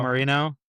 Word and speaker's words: Mourinho: Marino.